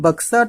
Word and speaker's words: Buxa: पश्चिम बंगाल में बक्सा tiger reserve, यहाँ बुक्सा टाइगर रिजर्व भी आपको लिखा मिलेगा, BUXA स्पेलिंग होती है, तो आपको भ्रमित नहीं होना है, बक्सा या बुक्सा कुछ भी बोल सकते हैं।